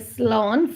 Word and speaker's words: slán: So I'm going to type in the slán for the accent. So slá in. So that's how you pronounce it. Slá in.